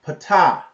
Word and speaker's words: Ptah: Now, it says originally, write this name down, Ptah. Spell it.